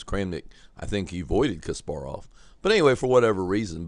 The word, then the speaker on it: Kasparov: match in 2000 between Kasparov or Cas some people say KAS Kasparov Gary Kasparov but I believe the correct pronunciation is Kasparov and U Vladimir kramnick